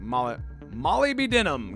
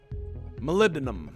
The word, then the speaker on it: molybdenum: cool so I'm gonna Molly Molly be denim gotta love that one love that one molybdenum I believe is how I believe it's how the British say it molybdenum all right so I